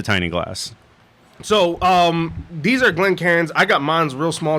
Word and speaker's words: Glencairn: But so this is gonna be called a Glencairn. It's also sometimes pronounced Glencairn, apparently, but we're not in Scotland or Ireland. That's fine.